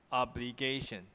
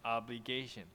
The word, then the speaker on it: obligation: 重音在 A 嘛，哈。So in Taiwan, people say obligation, right? Obligation.